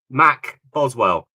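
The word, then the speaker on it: McBoswell: hey MC bow mc mc bowel how are you doing I hope I said it right thank you for coming in I'm sorry MK Mac Boswell like McDonald's Mac and then Boswell okay Boswell thank you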